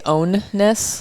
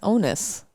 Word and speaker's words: onus: people you can block did you say ownness ownness yeah it's onus onus i don't know whatever i've heard it pronounced both ways again podcasting it's just mispronouncing words you've said wrong forever apparently ownness onus [